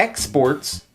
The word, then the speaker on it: exports: syllable exported and here when it's a noun the stress is on the first syllable exports so very often in english